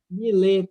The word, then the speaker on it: Millet: Millet, se escreve M-I-L-L-E-T. Millet.